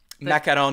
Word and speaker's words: macaron: Macaron, not to be confused with the macaroon, which is a coconut-based dessert.